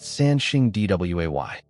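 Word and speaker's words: Sanxingdui: Sangsingdui, pronounced Sanxingdway.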